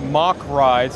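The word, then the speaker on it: Mack Rides: Like I had no idea it was pronounced mock rides until earlier this week. I've been saying it wrong for years, right? But it is a German company.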